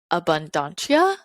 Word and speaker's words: Abundantia: around abundance is um people pronounce her name differently but she says to me abundantia a b u and